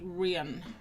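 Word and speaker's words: Rhian: To be fair, with the Welsh accent, it's usually pronounced Rian.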